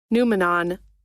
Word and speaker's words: noumenon: Let's get the make sure we're saying it right. As I whisper into your ear. Y'all see this? What it do? What it do YouTube? What it do Twitch? Phenomenon. Phenomenon. Noumenon. Noumenon. Phenomenon and noumenon.